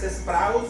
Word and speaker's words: praus: esta palabra manso cuer es sprus con acento en la u es apacible Bienaventurados los